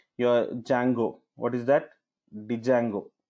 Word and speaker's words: Django: Django. D is silent. Okay, so Django.